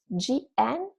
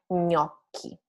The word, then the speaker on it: gnocchi: So GN, you pronounce like ñ, ñ like gnocchi. Gnocchi is a very popular word if you have ever been to Italian restaurant. So it's gnocchi, not gn, not jn, but ñ.